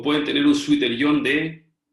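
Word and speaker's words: zwitterion: Es una palabra alemana. Ahora, si ustedes escriben Suiter-Ion, nunca la he escrito en español. Es como suéter-ion, pero nunca la he visto en español.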